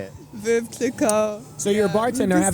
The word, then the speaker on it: Veuve Clicquot: Veuve Clicquot.